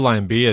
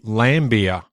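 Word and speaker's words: Laimbeer: his nickname was lamb apparently it's meant to be lamb beer I'm completely thrown because I think for all of time I've called him lamb beer yes I'll try and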